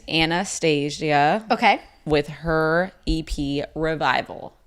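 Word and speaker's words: Annahstasia: then no no different Anastasia yeah it's a-n-n-a-h-s-t-a-s-i-a Anastasia that's how yeah that's how you say it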